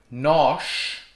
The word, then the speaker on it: nós: financial security another example you have the word nosh we and the word news in the written differently pronounced differently different meanings so for example we